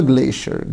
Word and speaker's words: glacier: أول كلمة حبايبي معانا هي كلمة glacier. glacier glacier glacier glacier glacier يعني نهر جليدي، طبعا لها نطق تاني هو glacier glacier. تاني كلمة lake lake lake